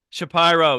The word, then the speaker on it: Shapiro: most other podcast hosts who who do not pronounce my name correctly Shapiro yes of course I will not make that